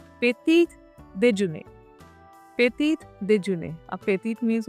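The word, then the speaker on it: petit déjeuner: पेटीट देजुने, पेटीट देजुने।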